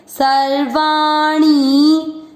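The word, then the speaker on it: सर्वाणि: र पढ़े सर वा, सर्वाणी पर बड़ी मात्रा लंबा खींचे, मतलब अधिक समय दें, सर्वाणी सर्वाणी। त्युप, त्यू प में अ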